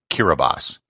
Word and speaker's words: Kiribati: pronounced except it isn't the letters t i form an s sound in the gilbertese language hence what should be kiribati is pronounced kiribas however it gets far